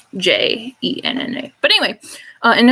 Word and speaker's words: Jenna: older sister genevieve or jenna for short that's g e n n a not j e n n a but anyway uh and it's not genna it's jenna like genevieve for our cousin jason